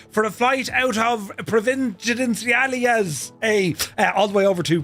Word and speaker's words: Providenciales: the Lineage 1000 for a flight out of Providenciales, a odd way over to Princess Juliana. I got the pronunciation right earlier.